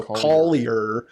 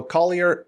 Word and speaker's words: Collier: But in America, you got to pronounce all of your consonants. So, Collier. Yeah. Uh yeah. So, Collier.